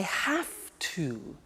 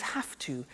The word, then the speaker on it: have to: I have to. Notice I don't say V, I say F. Have. It becomes have to. Have to becomes in pronunciation have to.